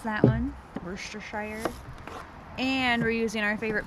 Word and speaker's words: Worcestershire: How do you pronounce that one? Worcestershire.